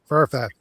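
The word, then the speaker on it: Fafhrd: I always call it Farfel and the Gray Mouser. What's it? Oh, Farfat and the Gray Mouser, which is also done by Marvel, I think.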